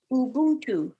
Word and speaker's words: Ubuntu: hang on i'm almost there lenora it says ubuntu did i say it right you did you